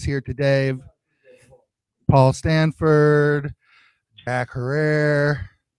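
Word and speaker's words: Herer: today paul stanford jack herrer hair rhymes with hair right jack here uh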